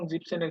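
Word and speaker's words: siebzehn: মুখস্ত করতে হবে ভাবে 16 এবং 17 কে ডিফারেন্ট ওয়াইতে উচ্চারণ করে অন্যগুলাকে যেরকম ফুনফের সাথে সেন যুক্ত হয়ে ফুনসেন হইছে এই জেক্সেন এবং জিপসেনের ক্ষেত্রে ডিফারেন্ট জেক্সেনের এস বাদ যাবে আর এখানে জি বেনের ই এন বাদ গিয়ে তারপরে হলো সেন যুক্ত হবে তখন হবে 16 17 জেক্সেন জিপসেন আর বাকিগুলা দেখেন আখকে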